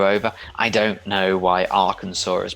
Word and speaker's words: Arkansas: to trip you over i don't know why arkansas is pronounced this way but then you have kansas